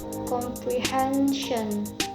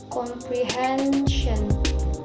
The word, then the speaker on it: comprehension: Words ending in ec, like linguistic, linguistic, and words ending in sin, comprehension, comprehension, and words ending in tin, discrimination, discrimination.